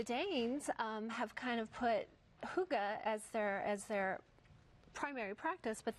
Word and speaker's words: Hygge: And this is how we say it, Hygge. This is how it's pronounced, Hygge.